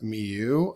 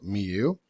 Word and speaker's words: Mieux: I looked up how to pronounce it. I also watched the video down here, and I believe it's basically called Miu. So that's what I'll be saying, Miu.